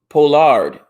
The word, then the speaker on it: Pollard: Pollard is pronounced Pollard.